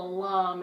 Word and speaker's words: lame: And now we're going to take the lame, and it's not called a lame, it's called a lame. It's spelled lame.